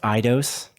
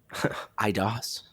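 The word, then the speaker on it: Eidos: is pretty cool um it's pronounced idos idos montreal we said it three three times and three times differently yeah great good stuff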